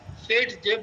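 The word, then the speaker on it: Zaitsev: কে উচ্চারণ করা হয় এস এর মত এসকে উচ্চারণ করা হয় এর মত ঠিক আছে এর নাম সেজে প্রোডাক্ট প্রোডাক্ট ঠিক আছে প্রোডাক্ট কি বলে মোর সাবস্টিটিউটেড থার্মোডাইনামিক্যালি স্টেবেল অ্যালকিন এজ দা মেজর প্রোডাক্ট।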